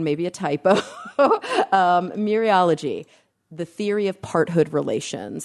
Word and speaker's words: mereology: word I think it's myriology oh it's interesting it's spelled m-e-r-e-o-l-o-g-y yeah where's the word mirror you would not pronounce the e but in here you